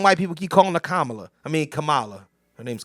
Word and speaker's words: Kamala: SP hey stop calling the uh Kamala it's Kamala Camala was a you called the Melissa Ford mispronouncing is totally different than what you were